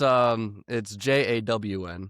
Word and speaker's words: Jawnathan: I think it's however people want to pronounce it. You know, Gotcha. it's Jawn, Mm-hmm.